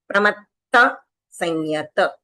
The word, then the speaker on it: प्रमत्त संयत: यहां पर डबल त है। और यहां पर नहीं है तो यह डबल त नहीं है तो हमको नहीं बोलना है डबल त यहां पर